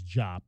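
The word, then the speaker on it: Diop: Uh and it I did go check it is Jop. Masamba Jop is the correct way to to pronounce his name.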